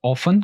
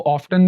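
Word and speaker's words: often: Usually आमतौर पर, और ऑफन कभी कभार। इसको ऑफ्टन भी पढ़ते हैं और इसको ऑफन भी प्रोनाउंस करते हैं।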